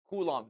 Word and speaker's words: Coulomb: It's a French name. Coulomb. The B is silent.